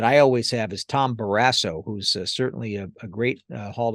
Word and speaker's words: Barrasso: pronounce it Barrasso or Barrasso? Mhm. And he looked at me and he said, "Kid, I don't care." So that was great. But I went with the flat A Canadian pronunciation for it, Mhm.